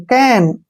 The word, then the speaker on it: can: जैसे CAP, कैप, CAP, कैप, CAN, कैन, FAN, फैन, ठीक है ना।